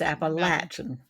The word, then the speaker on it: Appalachian: the right way Appalachian it's not Appalachian appach it's appalachin you've latched the door I think okay appalachin